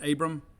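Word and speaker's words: Aborn: defensive back jaylen abram he spells it a-b-o-r-n but it's pronounced abram um maybe that's an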